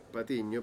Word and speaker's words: Patiño: Porque en realidad mi apellido es Patiño, pero acá nadie pronuncia la eña, así que prefiero sin apellido.